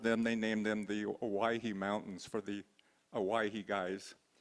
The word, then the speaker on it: Owyhee: I wanted to just kind of sidetrack here a little bit about the name Owyhee. It's an old spelling and pronunciation of Hawaii, and the reason these